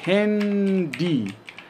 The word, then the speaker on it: Handy: Ela tem uma pronúncia inglesa, tá? A gente fala Handy, Handy, que é celular, tá bom?